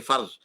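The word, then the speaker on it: فرض: In Urdu we say farz because the dot is pronounced as a z in Urdu. We say farz, but in Arabic the word is fa, ra, and a dot, farz, and the plural of that is faraid.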